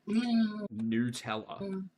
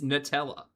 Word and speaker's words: Nutella: It's Nutella. Nutella like nut. Noot. No one says noot.